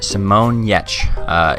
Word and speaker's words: Giertz: Simonyetch. It is spelled, not spelled Yetch though.